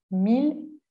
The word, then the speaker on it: mille: no se pronuncian así aquí sí las vamos a pronunciar como una l con estas cuatro palabras